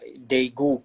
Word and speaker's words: Daegu: the world championships in daegu is they go yeah yes that's it that's it then it's it's that's their correct pronunciation the world chance was